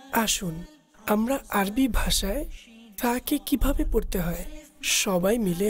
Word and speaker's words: ثاء: আরবিতে সা এর উচ্চারণের পদ্ধতি হচ্ছে জিহ্বার অগ্রভাগ উপরের দাঁতের ভিতরগত কিনারা হতে উচ্চারণ হয়। আসুন আমরা আরবি ভাষায় সাকে কিভাবে পড়তে হয় সবাই মিলে আমরা তার উচ্চারণ করি।